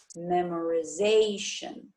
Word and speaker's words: memorization: When we add ation to it, it changes, memorization. So where would the stress be? Right, zation. The stress then would change, okay, to the first syllable of the suffix, memorization.